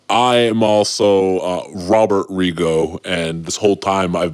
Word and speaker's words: Regot: elephant would be that I've been pronouncing my name wrong all these years okay so explain okay so my given name is Robert Rigo you mean to tell me my name is Jill Rigo yeah and I am